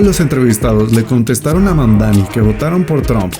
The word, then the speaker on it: Mamdani: Fíjense, nadie sabe pronunciar mi apellido. Es Mamdani, pero a cada rato me dicen Mundari, Mumnari.